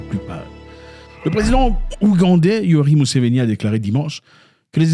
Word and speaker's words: Museveni: Museveni, pas Museveni, Museveni c'est en français, Museveni, Yoweri Museveni. Il ne faut pas franciser les noms, c'est pas bien. Gardez votre nom authentique comme prononcé chez vous.